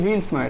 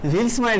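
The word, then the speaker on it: Vilsmeier: इसको हम लोग बोलते हैं व्हील्समायर, वी आई एल एस एम ई आई ई आर, कुछ इस तरह से स्पेलिंग है. व्हील्समायर रिएक्शन करेंगे तो हम लोग को क्या प्रोडक्ट मिलेगा?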